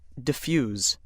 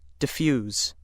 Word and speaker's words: diffuse: If word nine is being used as a verb meaning to spread widely, it is pronounced diffuse. Diffuse.